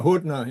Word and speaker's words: Hudna: Hudna. I don't know if I'm pronouncing this correctly. Hudna. Yeah. Hudna.